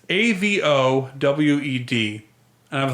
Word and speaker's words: Avowed: That they announced a new game, and it's AVOWED, and I was like, Avowed? I'm not going to pronounce that yet.